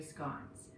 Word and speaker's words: scone: be making lemon blueberry scones some people might say scones or if you're in scotland you might say schoon today we're calling it scone rhymes with gone because that's what will